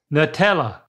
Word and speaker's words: Nutella: So a lot of people, they pronounce the nut part. How would you pronounce it if you pronounced it that way? Nutella.